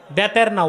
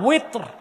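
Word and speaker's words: বিতর: বেতের না, ওয়েত্র। এটা আলেমরাও ভুল উচ্চারণ করে, মুসল্লিরা ভুল শিখে।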